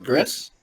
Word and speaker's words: Gris: a constant greased thought that was Gris because that's gray right well you pronounce it Gris right yeah either my actually